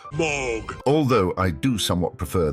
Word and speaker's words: Moog: And yes, it is pronounced Moog. Although I do somewhat prefer the original German pronunciation, which is Moog.